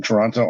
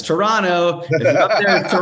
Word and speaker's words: Toronto: this thank you man i'm surprised to hear the hard t in your pronunciation of they always tell us it's toronto and i'm like i